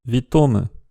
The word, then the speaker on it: witómë: Et donc ce mot qui veut dire bienvenue doit se prononcer victome.